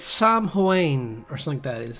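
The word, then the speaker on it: Samhain: I think it's Sam Huain or something. That is how it's pronounced. Like I have to look it up, but I think it's something like that. It's a Gaelic.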